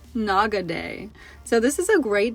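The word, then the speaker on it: Nakadake: This volcano within Mount Aso is actually pronounced Naga Day.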